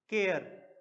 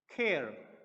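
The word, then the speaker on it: care: को प्रोनाउंस करते हैं नेक्स्ट शब्द है हमारा केयर इसको हम क्या पढ़ने हैं केयर लेकिन जो फॉरेनर्स होते हैं इस शब्द को वह प्रोनाउंस करते हैं खैर खैर तो अभी तक मैंने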